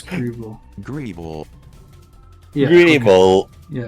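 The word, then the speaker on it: Gible: G it's either a Pokemon or how to pronounce grible grible grible yeah it's grible okay but yeah basically geles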